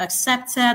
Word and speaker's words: accepted: We have accepted. The stress is on the second syllable.